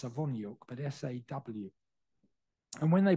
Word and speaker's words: Sawoniuk: was obviously this person, but the name was spelt in the Ukrainian or Polish transliteration, S-A-W, still pronounced Sawoniuk, but S-A-W.